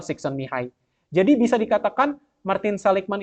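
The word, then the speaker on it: Csikszentmihalyi: mihai son mihai yaitu tulisan yang rumit itu bacanya adalah son mihai jadi bisa dikatakan Martin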